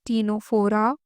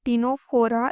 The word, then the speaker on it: Ctenophora: There is another mnemonic which is a statement which says that principle called to, since the for Ctenophora it is C is silent, principal called to punish Amar Akbar Anthony for misbehaving in history class.